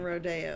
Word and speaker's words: Rodeo: people do you say it like rodeo or rodeo i would assume rodeo it's rodeo because that's far too hilly well